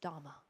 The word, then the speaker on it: Dhamma: And so we rely on the Dharma, or in Buddhism is often pronounced Dhamma, Dharma.